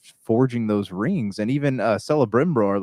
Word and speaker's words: Celebrimbor: And even Celebrimbor, like that, I think that's how you pronounce his name. Celebrimbor.